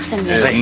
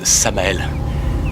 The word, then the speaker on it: Samael: Ravie de vous connaître Samuel. Non, c'est Je vous en prie. En fait, ça se prononce Samael mais appelez-moi Sam comme tout le monde.